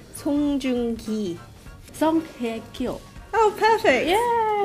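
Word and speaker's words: 송중기: Song Joong-ki. It's a little bit off. It's Song Joong-ki.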